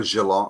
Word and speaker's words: Geelong: you say it campbell is it jilong or gilong oh geelong uh like as in in australia yeah there's a there